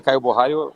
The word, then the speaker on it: Caio Borralho: Michel Pereira, Caio Borralho, or Vitor Petrino?